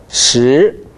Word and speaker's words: 十: 앞으로 어 발음 연습 많이 하십시오. 第十课. 예, 다시 한 번. 第十课. 좋습니다. 第十课. 十.